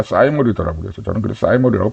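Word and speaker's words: thymol: 번에 나오는 어 맨솔 캄포 어 이거는 이제 티몰이 사람들이 부르는데 원래 영어 사진로 찾아보니까 사이모 이더라고 그래서 저는 그래 사이모이라고 발음을 하겠습니다 그래서 맨솔 그다음에 캄퍼 그다음에 사인몰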